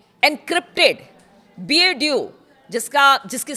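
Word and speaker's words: BeiDou: ईरानी सेना के नेविगेशन को अमेरिकी जीपीएस से हटाकर चीन के एनक्रिप्टेड बीएड्यू जिसका जिसकी स्पेलिंग है बीई आई डी ओ यू तीन पर ट्रांसफर किया है।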